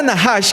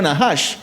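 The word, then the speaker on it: נחש: Para pronunciar encantamiento también se pronuncia nahash.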